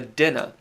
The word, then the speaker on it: Daoine: You've got the Dinna. You could pronounce this Daoine. You could say Daoine. We did for a while. That's actually incorrect. It looks like it's Daoine. It's not. It's Dinna or Daoine.